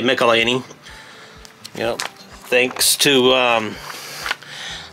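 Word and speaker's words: Michelinie: melini these to call I used to pronounce his last name michelan but I guess it's uh actually melany you know thanks to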